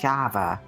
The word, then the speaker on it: Shava: Pronounced Shava. Shava.